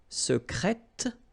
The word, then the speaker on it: secrète: Secret, secrète, secrètement. Okay, so I tend to insist a little bit on it just to make you hear the difference between the masculine. Secret, secrète. Okay, you're pronouncing the T.